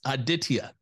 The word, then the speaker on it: Aditya: entrepreneur calling in from just north of Dallas aditia how are we doing doing great how are